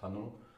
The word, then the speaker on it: Hanon: today will be about hanon exercise um or hanon how long depends how you say it's actually a french guy so it's pronounced hanno it's this book the